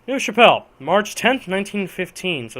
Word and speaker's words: Neuve-Chapelle: I believe it's pronounced Neuve, but I know it's Chapelle. Neuve-Chapelle, March 10th, 1915, so it's been a whole year in this war.